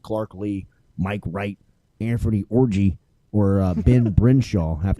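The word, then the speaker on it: Orji: for the judges please what is the correct pronunciation that's orgy yeah that's orgy I would say that's orgy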